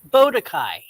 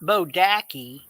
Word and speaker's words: Bodakai: potatoes or taters it's just like bodakai it's not bodaki i called him that